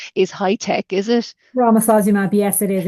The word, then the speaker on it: Romosozumab: But yeah, I presume that new osteoporosis drug that I'm not even going to attempt to pronounce is high tech, is it? Romosozumab, yes, it is.